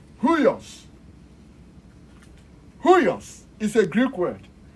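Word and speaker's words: υἱός: So this huios, why it is pronounced as huios is because the rough breathing mark introduces an H sound to the word. So this is pronounced as H-U-I-O-S. In other words, H, upsilon, iota, omicron, sigma, huios.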